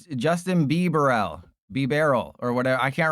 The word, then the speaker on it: Bibarel: Because they tried to put me in a They could have beat me over a a Bibarel here. That's how you pronounce Bibarel, by the way, for those of you who didn't who didn't watch the short.